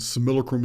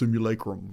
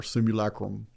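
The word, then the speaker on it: simulacrum: I'm just a good old Texas boy and similocrim is how you're going to hear it from me. But it's actually pronounced similacrim or similacrim.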